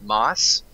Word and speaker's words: MOS: His name is MOS. He pronounces it Moss.